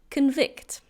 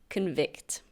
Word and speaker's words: convict: And now we have the verb convict. Convict. Be careful with the pronunciation. There is a noun with the same spelling and that's pronounced convict, but this is pronounced convict.